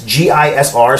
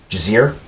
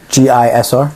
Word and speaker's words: Gisr: But it's Gisr, so there's no vowel in there, so Gizir. Gisr?